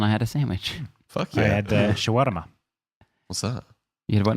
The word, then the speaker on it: shawarma: I'm basically going to Native Arab speakers in the last couple weeks have been like it's pronounced shwarma as my own little